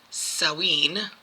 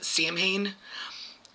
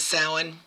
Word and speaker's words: Samhain: Um now also I have heard um people pronounce it sawin and I believe that is more Irish or savine which is um Scottish I believe.